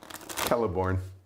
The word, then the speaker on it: Celeborn: We can tell by how you can't pronounce a simple name like Hard C. Celeborn. Or Celeborn.